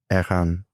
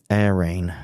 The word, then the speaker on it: Airain: that chronograph that you made with Ahan, I'm not getting any closer to saying it right, am I keep saying the same thing. Okay. Um, Air Rain, as we'd say in England, um, is gorgeous.